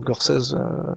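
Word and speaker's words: Gorsedd: Alors Gorsèse, c'est du gallois, hein, donc le double D se prononce Z.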